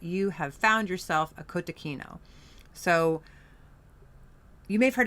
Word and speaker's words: cotechino: Um although it is sometimes even our Italian friends will say kotacino but um probably the American Italian friends, not the real Italian friends. Uh, kotakino is something that you